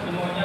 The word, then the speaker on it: pneumonia: आज का हमारा लेक्चर निमोनिया का है। निमोनिया मतलब निमोनिया पी साइलेंट। हाँ, पी साइलेंट।